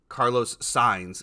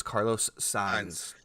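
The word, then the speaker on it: Carlos Sainz: uh April 2nd and apparently and apparently it's Carlos signs is how it's pronounced I was just informed by my F1 expert that we were saying it wrong it's Carlos signs um so Mom my question is two weeks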